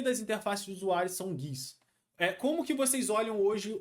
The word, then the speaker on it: GUI: A gente pronuncia esse GUI.